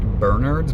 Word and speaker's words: Bernards: It's pronounced Bernards, but it's actually spelled like Bernards.